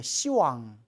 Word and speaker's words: 시왕: 시왕 열분의 왕 시왕 원래는 10왕인데 발음이 너무 세기 때문에 이거 욕 같잖아요. 이런 시왕 그래서 발음을 낮춰서 시왕이라고 부르는 거예요.